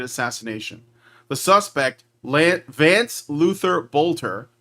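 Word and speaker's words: Boelter: The suspect, Vance Luther Bolter, I hope I'm pronouncing that right. I think it's pronounced Bolter. It's Oelter.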